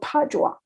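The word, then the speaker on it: Padua: other Italian cities like the city of Padova it's called padwa that's a sort of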